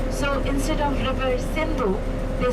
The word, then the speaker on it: Sindhu: name of, Hindi name of river Indus is Sindhu, S-I-N-D-H-U. And the Persians could not pronounce naturally the letter S.